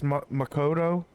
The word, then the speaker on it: Makoto: take in laughing my butt off makoto it's makoto i i makwa though that's how she pronounced it a ship is a couple you